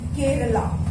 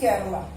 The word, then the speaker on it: Kerala: Then केरला, KERALA, केरला। Pronunciation is केरला। Hindi में इसे केरल बोलते हैं, पर इंग्लिश में ये केरला हो जाता है।